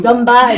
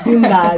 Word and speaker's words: Zumba: has to be there instead of zoom zomba it's like zumba zumba and so the classes